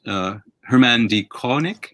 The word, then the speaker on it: Herman D. Koenig: your book, your memoir, Alphabet, by someone named Herman D. Koenig. Is that how you pronounce his name?